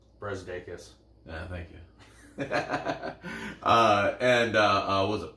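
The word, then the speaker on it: Brazdeikis: Brezdeikis.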